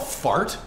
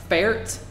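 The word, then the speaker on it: Färt: Is this place called Fart? No, it's pronounced Fert. There's an umlaut over the A, which, so it's pronounced like Fert.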